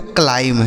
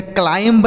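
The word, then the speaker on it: climb: क्या लिखा मेरे दोस्त एम के साथ अगर वी लिखा होता है तो वह बी जो है साइलेंट होता है मतलब उस बी का उच्चारण हमें नहीं करना होता है तो इसे क्या पढ़ेंगे इसे पढ़ा जाएगा दोस्तों क्लाइम क्या पढ़ेंगे सी एल आई एम बी इसे पढ़ेंगे क्लाइम ठीक है क्लाइंब नहीं क्लाइम क्लाइंब मतलब हो जाता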